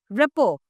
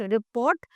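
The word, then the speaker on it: rapport: is moist it is moist right moist next रिपो very good word रिपो रिपो देखो टी is there many of you would say इट रिपोट बट इट इज़ नॉट रिपोट इट इज़ रपो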